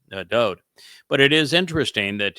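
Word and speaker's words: דוד: And when his father, Yahweh, spoke of him in the 89th Mizmor, it's all written Daleth, Wah, Daleth, which is pronounced Dode.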